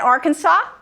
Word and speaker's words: Arkansas: What's the silent letter in Arkansas? S. S. The last S. Yes. A second S.